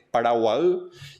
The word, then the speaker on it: Paraguay: que el nombre Paraguay la pronunciación en guaraní el idioma nativo que está ahora lo conservamos es Paraguay y la y sola es agua agua en guaraní es una letra para para toda la palabra entonces en el nombre